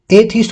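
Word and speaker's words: atheist: अब थीस्ट अथीस्ट बोलते हो ना, वो एथीस्ट होता है। ये ए को अपने ए ही प्रोनाउंस करते हैं इंग्लिश के अंदर, प्रोनाउंसिएशन पे अपने ध्यान दें।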